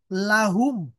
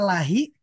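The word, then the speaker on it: لَهُ: Lahu, lahum, lahu, lahuma, lahum. Nah isim domirnya tidak terjadi perubahan. Tidak dibaca lahi, tapi dibaca lahu. Tidak pula dibaca lihi, dibacanya lahu.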